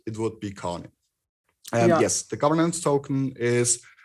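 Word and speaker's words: Kāne: So yep, is it Kane or Khan? I think the correct pronunciation according to Hawaiian mythology is Khan or Kane.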